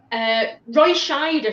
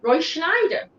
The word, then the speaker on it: Roy Scheider: Roy Scheider from Jaws. People always put an N in there. Roy Schneider.